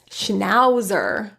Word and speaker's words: schnauzer: Let's practice a few words where the A is pronounced as ow. Flautist, schnauzer, sauerkraut.